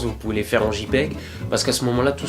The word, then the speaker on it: JPEG: Ça se prononce JPEG. En anglais, la lettre J se dit J. Vous pouvez donc aussi, si vous le souhaitez, dire JPEG.